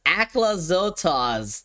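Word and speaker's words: Aclazotz: It's pronounced Aclazotas.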